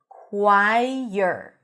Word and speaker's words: choir: not all vowels, but when you have two vowels connecting, sometimes you get a y sound, especially if the vowel before is an e sound, like in quai or k. Choir.